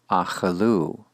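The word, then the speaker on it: אכלו: Achalu, achalu, they ate.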